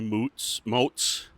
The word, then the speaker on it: Moats: And it's a two-hander with Jeremy Moats, rhymes with boats, and a traveling artist, Martin Dockery.